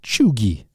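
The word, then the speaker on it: cheugy: that's spelled like c-h-e-u-g-y used to denote tragically unhip Millennial Trends uh it's pronounced chugi uh the famous Mexican or well it's not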